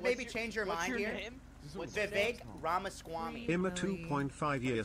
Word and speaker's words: Vivek: How about you guys it's Vivek. V-I-V-E-K. Vivek. It's funny because that rhymes with Lil Dick.